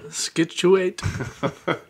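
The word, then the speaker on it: Scituate: Pronunciation Man. Skituate.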